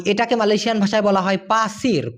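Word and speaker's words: pasir: Malaysian ভাষায় বলা হয় পাসির পা সির উচ্চারণটা কি হবে প আকার ছয় রশ্মি র কিন্তু ধুলা যেটা থাকে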